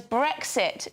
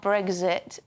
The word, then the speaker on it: Brexit: question yeah Neil asks why can so many not pronounce the letter X the word is brexit not brexit exit not exit luxury